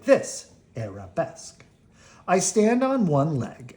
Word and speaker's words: arabesque: it's an Arabesque you say it like this arabesque I stand on one leg and I hold